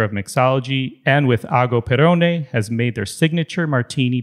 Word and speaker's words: Perrone: And don't forget the smile, Ago Perrone and Giorgio Bargiani.